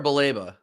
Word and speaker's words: Baleba: Is it Balíba or Baleba? People say both, either or. Until he comes out and says, "Hey, this is how you say my name." Pick which I say Balíba.